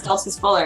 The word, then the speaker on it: Stoltzfus Buller: Stoltzfus Buller.